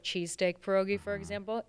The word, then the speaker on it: pierogi: one thing I've seen you do videos on, Perogies. Oh, Now, again, and if you're really into it, people will be like, pierogi. Yeah. They get real into it. say it right.